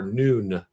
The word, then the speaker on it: Nun: In the Egyptian ancient Egypt or the uh Heliopolis, I'm probably pronouncing that incorrectly, but there was none or Nun is how it's pronounced.